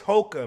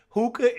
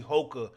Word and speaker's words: Hoka: I I think it's Hoka man I think it's Hoka if I'm not mistaken right hookah is like something else you know what I